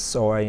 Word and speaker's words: SOI: not of interest and they pronounce them as soy and snowy just just let you